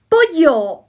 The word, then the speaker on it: pollo: Pollo, pollo, chicken, pollo. Not polo. If you say polo, that means ice cream, polo.